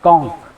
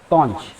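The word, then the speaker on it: conch: अब इसका प्रोनाउंसिएशन कैसे होगा, तो प्रोनाउंसिएशन के लिए अमेरिकन इंग्लिश में इसका प्रोनाउंसिएशन होता है कॉन्क, ना कि कॉन्च। ठीक है, और ब्रिटिश इंग्लिश अगर होती है तो इसमें कॉन्च।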